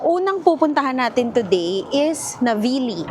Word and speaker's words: Navigli: So, ang unang pupuntahan natin today is Navili. Ang spelling niya ay Navigle pero silent G daw siya. So, Navili. Sabi nga nila it's the heart of Milan daw.